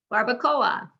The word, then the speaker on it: barbacoa: they're both strong vowels four syllables you can count syllables by counting how many times your chin goes down four barbacoa the o and the a do not blend together they're not a diphthong they're two separate sounds because they're both strong